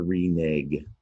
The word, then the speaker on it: renege: Renege, 2 syllables.